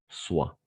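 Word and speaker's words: soient: On va prononcer soit, soyons, soyez, soit. ENT à la fin, on ne prononce jamais.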